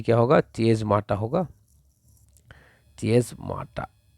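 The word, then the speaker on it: chiasmata: और स्पेलिंग में थोड़ा सा मिस्टेक है, जब मैं ठीक कर दूँ इसको कि जो ये स्पेलिंग है ये क्या होगा, चेज माटा होगा, चेज माटा।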